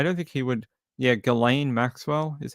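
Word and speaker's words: Ghislaine: Yeah, Galain Maxwell is how you say your name.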